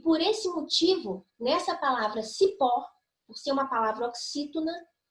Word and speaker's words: cipó: Temos um outro exemplo aqui de cipó e de raiz. Só que nessa situação não existe vogal temática. Cipó é uma palavra oxítona, ou seja, é a última sílaba, que é a sílaba mais forte.